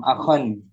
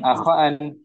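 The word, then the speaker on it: أخًا: Kam akhan bukan akan.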